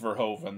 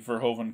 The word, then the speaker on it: Verhoeven: I believe it's pronounced Verhoeven.